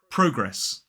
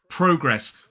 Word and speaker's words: progress: So in a modern British RP accent, this word is progress. Progress. 2 syllables, the stress is on the first, so it's progress. But let's compare it to the American pronunciation, which is more like progress. So again, 2 syllables, stress on the first, but this time the vowel sound in that first syllable is that long R vowel sound.